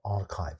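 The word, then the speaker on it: arXiv: the internet on this website called archive spelled like this i hope that other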